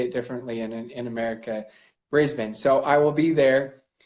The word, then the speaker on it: Brisbane: Brisbane. Got it. Okay, great. Because I hear a lot of people say it differently in America. Brisbane.